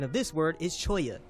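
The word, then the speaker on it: cholla: in the southwest so I understand the correct pronunciation of this word is Choya it's a type of wood price how about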